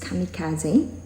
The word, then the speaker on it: kamikaze: So it's a video about the kamikaze fighters, or according to Wikipedia, kamikaze, pronounced kamikaze, divine wind or spirit wind, officially is Shinpu Tokubetsu.